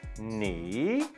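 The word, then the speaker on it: หนี: Ho, no, e. Ni. That's the way we pronounce that.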